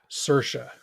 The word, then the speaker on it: Saoirse: it's Uh, an Irish name and you pronounce I it don't like inertia, Sersha.